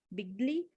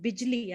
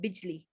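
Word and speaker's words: बिजली: is from big ali bigly in european union and no i think it's called bijli i'm sorry this is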